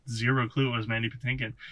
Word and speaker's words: Patinkin: and the other thing is like manny uh patakin is that how you pronounce this mandy patinkin patinkin he also sells that role like a